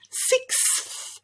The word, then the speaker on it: sixth: us followed by a putting those together without a vowel sound in between is what makes it tricky and your mouth just gets all jumbled up your tongue gets all confused so we need to break it down and to say those three sounds separately first nice and slow sick six six six try give it a